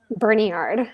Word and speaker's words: Berniard: It's Bernard, right? Berniard. Berniard. Okay, Berniard. As you guys notice, I don't pronounce names well.